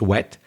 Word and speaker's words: whet: To whet your appetite. Now you might be thinking, okay, I can spell wet. Dry, wet. No, it's not that wet. It's spelled W-H-E-T. W-H-E-T, pronounced wet.